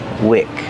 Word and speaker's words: wick: And this is wick. Different pronunciation. Use a short sound like this is.